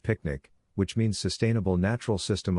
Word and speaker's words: PQNK: calls Peter Kraini Eashkari PQNK pronounced picnic which means sustainable natural